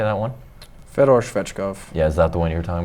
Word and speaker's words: Fedor Svechkov: Fedor Svechkov.